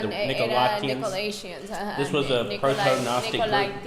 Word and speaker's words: Nicolaitans: Nicolaitans, or the Nicolaitan, or I forget how to say the Era Nicolaitans.